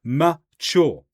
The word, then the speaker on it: mature: So mature has two syllables, mature. Compare that to young.